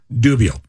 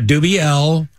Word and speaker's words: Dubiel: Dubiel. Dubiel, not Dubiel. Dubiel.